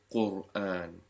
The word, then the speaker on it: Qur'an: The letter before it, Qa, has a dhamma. You pronounce it Qur'an.